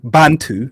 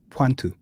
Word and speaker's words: Bantu: And the soft B is actually pronounced with a PW. Okay. So, they don't say bantto. The word bantto doesn't exist. It's panto.